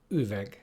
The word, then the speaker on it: üveg: And last but not least, a sound which doesn't really have an English equivalent, which is U. U. And our word for today is üveg.